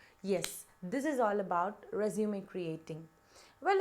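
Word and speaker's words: résumé: like to clarify something have you heard me pronouncing it as resume if so it is absolutely wrong it is actually resume resume means a progress of a work whereas the one that we look for now is pronounced as resume got it so with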